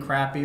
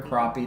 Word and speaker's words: crappie: indication a rock record-breaking crappy or crappie depending on how you pronounce it depending on where you're from and uh they took